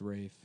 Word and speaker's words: Ralph: It's pronounced Rafe, but it's spelled like Ralph.